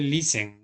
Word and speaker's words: listen: Aquí se lee listen, ¿no? Listen, como sin la T.